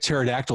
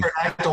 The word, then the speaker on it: Pterodactyl: Yeah, really quiet pterodactyl was not previously taken by any industry. And remember kids, the P is silent. Yes, the P should always be silent. Um yeah, quiet pterodactyl.